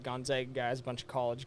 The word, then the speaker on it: Gonzaga: Gonzaga, everybody, not Gonzaga or Zaga. Zaga. It's Gonzaga.